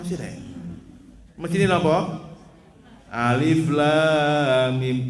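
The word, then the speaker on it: الم: Alama. Loh, kok alama sih rek? Mesti ini apa? Alif lam mim diwaca alama. Mboten alama, Bu, alif lam mim.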